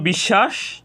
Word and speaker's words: বিশ্বাস: এখানে আমরা দুটি শব্দ দেখতে পাচ্ছি একটি হলো বিশ্বাস আরেকটি হল বিদ্যান প্রথম শব্দে তালব্য স এর